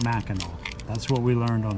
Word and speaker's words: Mackinac: is black and that spelled like mackinac pronounced mackinaw that's what we learned